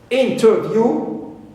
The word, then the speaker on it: interview: I can mention here the word interview interview view ends with long vowel o clear but here I stress the first syllable in although the last syllable H contains long vow but the first one is stress I have also the